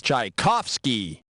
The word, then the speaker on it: Tchaikovsky: The pronunciation for this famous Russian composer is Tchaikovsky.